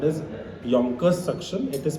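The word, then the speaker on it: Yankauer: uh soft end suction this is called as Yonkers suction it is pronounced Yonkers it is spelled as y a n so it's gank course but it's pronounced as Yonkers so this has got multiple holes so that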